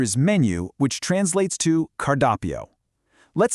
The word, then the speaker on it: cardápio: The tricky word here is menu, which translates to cardápio. Let's sound out the phonetics together. Posso ver o cardápio, por favor? I'll give you a quick beat to practice that yourself. Posso ver o cardápio, por favor?